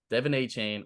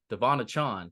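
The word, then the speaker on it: De'Von Achane: next week talking about Devin a chain or he just he just changed his pronunciation to devonna Chon I think devona Chon or Devin a Chan whatever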